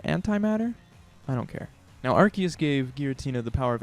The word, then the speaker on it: Arceus: powerful light in this entry probably referring to Arceus yes that's how I pronounce it and I don't care how you